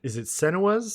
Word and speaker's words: Senua: You talked about one of our major game releases this week, which is it Senua's Saga? Is that how you pronounce it?